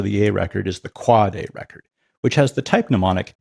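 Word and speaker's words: AAAA: You pronounce it quad A, not a if you want to hang out in a DNS savvy crowd.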